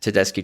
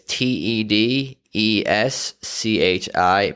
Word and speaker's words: Tedeschi: of the way it's te d es CH i pronounced ki not chee it's an Italian pronunciation Susan Tedeschi that's out